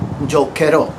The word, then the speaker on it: giocherò: In this case, for giocare, we need to maintain that hard C sound, k. We need to insert the H to maintain that hard sound.